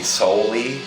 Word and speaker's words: Sowley: I'm a lot of people call me soy by my last name and it's pronounced so not s I'm going to take